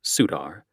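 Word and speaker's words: Surtr: Their symbol is the Norse fire god, Sutar, Sur TR, sitting on the sun and wielding a sword. Their colors include a denim sleeveless jacket with the sutar pronounced sudar patch on the back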